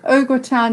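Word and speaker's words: au gratin: so one was if a food is cooked ogre tan what does it contain so ogre town is spelt a u g r a t i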